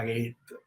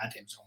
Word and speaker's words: Gatenson: Esto es una serie que serán, lo anunciamos como cinco volúmenes, pero justo cuando lo anunciamos nos dijo Aurora Gate o Aurora Gatenson, se pronuncia su apellido, eh, oye, que al